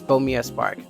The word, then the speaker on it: Bomia Spark: When you first saw the logo and the title, Bomia Spark, I'm going to pronounce it as Bomia Spark.